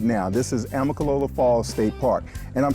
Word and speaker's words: Amicalola: Now, we were talking about Amicalola. It sounds like it should have an extra vowel. It's hard to pronounce. Amicalola.